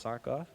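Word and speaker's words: Tsakoff: hired this week alexander it's an unusual name t-s-a-k-o-f-f spelled our pronounced sock off who will be teaching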